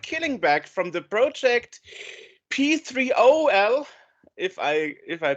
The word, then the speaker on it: P3OL: back from the project P3 if I if I pronounce that correctly and from yeah we call it peel okay okay nice um